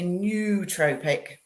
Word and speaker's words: nootropic: So so when they all say nootropic, now it's from the noos Greek, so it's nootropic.